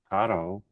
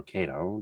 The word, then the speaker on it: Kato: because when you look at it, the T-Track, the N scale, the rails, that's all Kato or Kato, depends upon how you want to pronounce it.